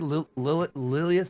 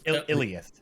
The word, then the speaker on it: Iliath: The soul of how do you say it? Lilith? Iliath. Iliath. Thank you.